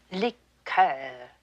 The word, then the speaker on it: liqueur: When referring to a cordial, we use the French pronunciation. Liqueur, Miss Tinsley.